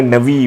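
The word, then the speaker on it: נביא: तो नबी का वो हिब्रू में नवी बोलते, नवी डजंट साउंड, मुझे अच्छा नहीं लगता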